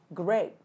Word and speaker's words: grapes: Từ này mọi người thường hay đọc bị sai lắm mọi người nha. Nho á, mọi người đọc là grape, grape, hoặc là thậm chí là có nhiều đọc là grab nữa. Nhưng mà giúp Thủy, nó là âm e, mình sẽ là a, grapes.